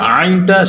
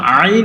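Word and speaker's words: ع: থেকে উচ্চারণ হয়েছে, এই আইনটা সেখান থেকে উচ্চারণ হবে, অর্থাৎ কণ্ঠনালীর মধ্যখান থেকে, যেটাকে আমরা হলক বলি, যে হলকের মধ্যখান থেকে আইন এবং হা এই দুইটা হরফ উচ্চারণ হয়।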